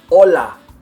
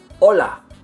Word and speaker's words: hola: roof of your mouth Ola I put it up on the roof of my mouth and it should be really firm that's why you don't